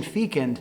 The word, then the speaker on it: fecund: thought of the word fken and I laughed Fen is a difficult word to say without at least a giggle the pronunciation Fein is acceptable as well the meaning is also